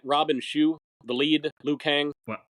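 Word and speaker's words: Robin Shou: I like most of them well am I pronouncing it right Robin Shu the lead Liu Kang well I watched the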